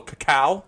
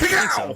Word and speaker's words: cacao: It is a barrel-aged stout with a little cacao. Isn't that how you pronounce it? Cacao. Cacao. It's the French pronunciation for cocoa.